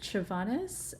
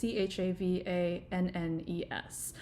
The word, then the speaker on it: Chavannes: article, that by David Chavanis and Maria Ryan's manifesto on decolonizing the music survey. I'm actually not sure if I'm pronouncing his last name correctly right now. So it's Chavannes.